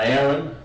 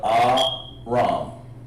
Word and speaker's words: Aram: Not Aaron, but Aram.